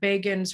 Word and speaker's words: Begin: they were talking about Begin's rise in 1977, and they said Begin rhymes with Fagin.